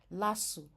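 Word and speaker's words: LASU: is an acronym for human imuno deficiency virus pronounced as letters the letters itself then you have abony for instance lassu Lagos State University not LSU okay then you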